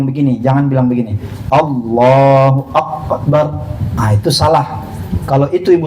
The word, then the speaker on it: akbar: Kalau kapnya itu diganti kop menjadi kuburan. Nah, makanya nggak boleh dipastikan. Terus gimana Pak Ustaz cara nyebutinnya? Harus diucapkan kalimat kap secara sempurna, ada hamsnya namanya. Gimana caranya? Allahu akbar. Nah, begitu ya. Jadi jangan akbar.